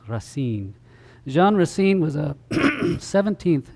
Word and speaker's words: Racine: have been Jean Baptist grain I think is how they pronounce the name Jean Baptist Rasin Jean Rasin was a